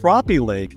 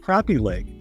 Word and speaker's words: Crappie Lake: the show that is pronounced crappie Lake and not crappy Lake and it's actually not